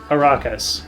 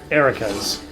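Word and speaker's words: Arachas: Sorry, the way it's spelled, I would pronounce that Arakas, but they pronounce it Erikas.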